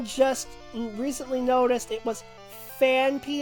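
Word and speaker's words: Phanpy: Thinking about, I only just recently noticed it was Fanpy and not Fanfy.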